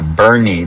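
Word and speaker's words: Boerne: I'm heading down to Bernie, Texas, which is spelled B O E R N E, which in Dutch would be Bor Bernie.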